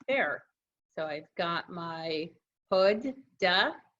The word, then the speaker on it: Huda: you'll see that I taught readers how to pronounce my name right there so I've got my hood duh pada I never used to do